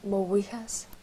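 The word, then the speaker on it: go raibh maith agat: You'd say Mowihas to say thank you. Completely different pronunciation, right? Mm-hmm. Very different to English.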